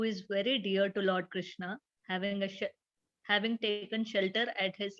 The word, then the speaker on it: Krishna: The words Hare, pronounced Hare, Krishna, pronounced Krishna, and Rama rhymes with drama, are Sanskrit words.